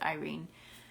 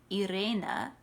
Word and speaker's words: Irene: freeman they pronounce it irene in the jeremy brett uh versions of sherlock holmes they pronounce it irena as if she is eastern european or something and i actually i